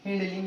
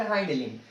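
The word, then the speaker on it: hind limb: क्या बोल सकते हैं, हिंड लिम्ब या फिर हाइंड लिम्ब। जिसको जो प्रोनाउंसिएशन करना है वो आप कर सकते हैं, दोनों की उसका प्रोनाउंसिएशन है, हिंड लिम्ब और हाइंड लिम्ब, ठीक है।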